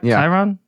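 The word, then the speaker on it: Chyron: we with Fox and they're Chiron is that how you say it Chiron yeah new word I just learned today c-h-y-r-o-n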